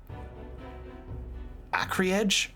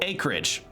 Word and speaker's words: acreage: say the total AC acri Edge acri Edge is that the word how do you pronounce that hold on let me see that AC oh acreage I've never seen acreage written